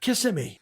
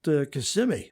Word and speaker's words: Kissimmee: He says, "Oh, well, we're in Kissimmee." She said, "No, I think it's pronounced Kissimmee."